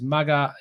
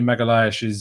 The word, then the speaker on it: Magalhães: Joshua Sullivan says, from what I heard, how to say it is Magalhães, which would make sense. Esh is a very common pronunciation in that Portuguese. So maybe Magalhães is how you do it.